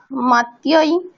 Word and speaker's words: मत्याः: मतिभिः मत्यै मतिभ्यां मतिभ्यः मत्यै मतये मतिभ्यां मतिभ्यः मत्याः मतेः मतिभ्यां मतिभ्यः मत्याः मतेः পঞ্চমীতে কি, ষষ্ঠীতে কি বলছো? মাত্যাহ না মাত্যাহা? কি আছে? मत्याः হ্যাঁ, আকারটা স্পষ্ট উচ্চারণ করতে হবে।